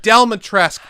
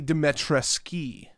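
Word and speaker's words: Dimitrescu: are are 100 well it's actually dimetreski it's like well it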